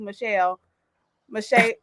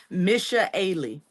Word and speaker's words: Misha Ailey: Misha Ailey. Misha Okay. Yep. Really. It's pronounced like it's got two ways, but it's only got one.